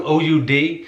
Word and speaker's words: oud: this instrument on there i had to look up the pronunciation i don't know the pronunciation but i look it up it's called an old oud it almost looks like